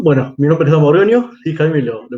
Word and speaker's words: Borgogno: Bueno, mi nombre es Dan Borgoño, sí, Jaime, lo pronunciaste bien.